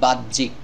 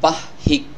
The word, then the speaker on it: বাহ্যিক: শব্দটির সঠিক উচ্চারণ হবে বাহ্যিক এই জ ফলার কারণে এখানে দুইটি জ উচ্চারণ করলে শব্দটির উচ্চারণ সঠিক হবে বয় আকারে বাদ জ বাদ জ রসিকারে জিক কজিক বাদিক এই শব্দটিকে যদি আমরা বলি বাহিক বাহিক তাহলে শব্দটির উচ্চারণ